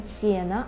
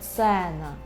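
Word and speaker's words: cena: російською мовою тому що е вимовляється у польській мові завжди як е це ніколи не є завжди е наприклад екран екран так екран екран Сена Сена так це ніколи не цінна А цена е цена сцена так Або у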